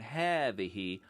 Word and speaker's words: هذه: Notice that هذا and هذه are both pronounced as if they have alifs after the letter ha and before the thal, and that's because long